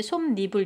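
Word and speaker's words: 솜이불: 발음할 때 솜 니블 이렇게 한단 말이죠. 니은 첨가가 일어났죠.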